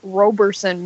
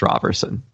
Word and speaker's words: Roberson: There's another name that people say two ways. I've heard it Roberson many times. Well, because it looks like Roberson, but that one is pronounced Roberson.